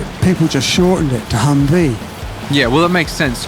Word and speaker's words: Humvee: just shortened it to Humvee yeah well that makes sense because you know H M or hum are you like yeah you've reduced it by one syllable and likewise and then